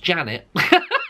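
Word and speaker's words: Zsanett: Hi, my name is, oh my god, it's spelled Z-S-A-N-E-T-T, and it says in English it's pronounced Janet. Like, I kid you not, it literally says it's pronounced Janet. So there you go, so Zanet, Janet.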